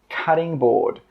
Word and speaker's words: cutting board: Cutting board. I know it's spelt with a T, but when we pronounce it, we actually use a D sound.